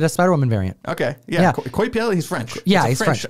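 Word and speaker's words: Coipel: did we did a spiderwoman variant okay yeah koi piel he's french yeah he's fresh olivier so this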